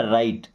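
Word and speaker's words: write: देखिए यहां W silent है। क्या पढ़ना? राइट।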